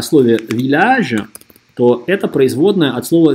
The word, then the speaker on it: village: C'est dans ce village. C'est dans ce village. C'est dans ce village. Это в этой деревне. C'est dans ce village. C'est dans ce village. Обратите внимание, что деревня читается двумя L. Это исключение.